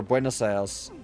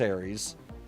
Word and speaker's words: Buenos Aires: in fucking Buenos Aires, or Buenos Aires, I think, is how it's actually pronounced. It's not pronounced Aries.